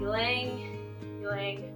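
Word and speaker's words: ylang-ylang: one but it's like a carrier oil um ylang ylang that's how you pronounce it and Clary Sage so I'll be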